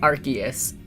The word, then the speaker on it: Arceus: on another stream, but the only Pokemon where they've really come out and said how to pronounce it, because they didn't want people to think it was Arse, because they don't want God to have ass in the start of their name.